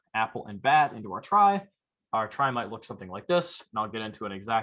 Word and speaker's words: trie: clever and cool and they're pronounced a try i don't make the rules there so i apologize to everybody who wanted to call it a tree or something so instead